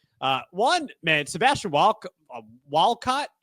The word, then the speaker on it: Walcott: Uh one man Sebastian Wal Walcott I think that's how you say it's not Valcott because I that I mean that would mean that it's he's yeah I don't know but it's definitely Sebastian Walcott.